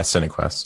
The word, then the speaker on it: Cinequest: Cinequest? Yeah, Cinequest.